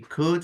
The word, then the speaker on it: could: Valeria Lara yes Valeria we need to fix the pronunciation of these words could would and should it's not cold it's not warm old all right so repeat after me could would should old would